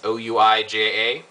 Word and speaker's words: Ouija: pegan asked me about the Ouija board that's o UI J A it's pronounced Ouija and he says hello Blaze not